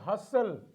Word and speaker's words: hustle: We have hustle. In these letters, we find T is there, but the pronunciation of T is completely silent.